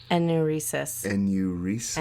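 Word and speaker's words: enuresis: e n u r e s i s pronunciation okay all right here we go a new recess during his high school years he did have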